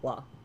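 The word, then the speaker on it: は: We use ha because Japanese is weird, instead of wa, but we pronounce it as wa.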